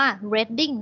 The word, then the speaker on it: Reading: เอก ที่ นู่น แหน่ะ อ่าน ว่า เร้ดดิ้ง นัก Wedding สะเอว รอ เรือ ต่อ เด็ก นาน Wedding ไม่ ได้ อนุรี ดิ้ง นะ มัน